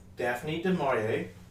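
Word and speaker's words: Daphne du Maurier: Today we're going to talk about the um author Daphne Demorier. Wow, I actually did pronounce it correctly.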